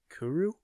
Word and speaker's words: kuru: So the disease is called Kuru disease. Kuru? Kuru. I do know what that is. Okay, let me make sure I'm pronouncing it correctly.